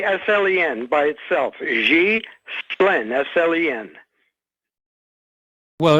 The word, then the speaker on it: Ghislaine: It's Ghislaine. It's hard to say a G with a Z, but a G, think of Xi Jinping.